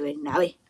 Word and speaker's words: Bernabé: Antonio Valero de Bernabé. Con acento en la última E.